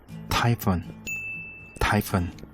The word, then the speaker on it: typhoon: typhoon. 자, 근데 요거 발음이 제가 이제 항상 유튜브 할 때마다 나오지만 중간에 PH라는 스펠링 보이시죠? 네. 영어에서 PH는 발음이 무조건 F 발음으로 하셔야 돼요.